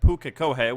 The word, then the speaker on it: Pukekohe: It's Pukekohe. We've been saying it wrong. Once again, I've been corrected. Definitely have the right pronunciation now, as I went straight to someone who is from the area to get the correct pronunciation.